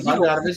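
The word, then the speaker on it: Bogdanović: is good, Yeah, but Bogdanovich, you said it right.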